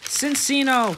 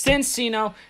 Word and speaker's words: Cinccino: People always pronounce it wrong, like Cinccino or Cinccino, Cappuccino, fucking It's Cincino and it's Minchino.